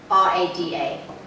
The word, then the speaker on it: Alvorada: how do you spell that? Pretty good fun. Alvorada.